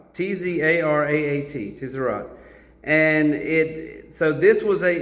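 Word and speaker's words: Tzaraat: Really, when you look at, because the word is Tzarat, T-Z-A-R-A-A-T, Tzarat.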